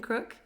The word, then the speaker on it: Crook: I'm here with Kim Crook. Is that how you say it? Yep. And spelled right. Just like a crook, right?